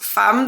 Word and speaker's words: Femme: trust me it's pronounced fam that's just a weird French thing they put an e but they pronounce it as an a just so you know